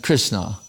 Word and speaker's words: Krishna: the don sagar is and krishna two syllables anyone can say it i probably told that